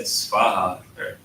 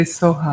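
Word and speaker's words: svāhā: Yeah, the Tibetans say Soha. And so I remember when you were writing it down, you mentioned that it's based off a region. Is that? Oh, I turned that off. Yeah, it's the Tibetanized Sanskrit. They do that, and that's okay. That's how the Tibetans do it. But the original, they just don't know that the original Sanskrit isn't Soha.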